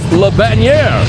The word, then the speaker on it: Jerome Le Banner: And here comes the ferocious Frenchman, Jerome Geronimo Le Banner, or Le Bannière, as our ring announcer Michael Buffer pronounced it as.